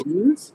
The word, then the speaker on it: meninges: Meninges?